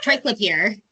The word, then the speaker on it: triclopyr: And I apologize, I don't know if I'm going to pronounce this word correctly, but why is the use? Is it triclopyr? Oh, triclopyr.